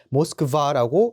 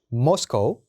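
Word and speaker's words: Moscow: 모스코우라고 읽어주시면 됩니다. 러시아 분들은 요거를 모스크바라고 읽어주시지만 저희는 모스코우라고 읽어주셔야 돼요. 모스코우.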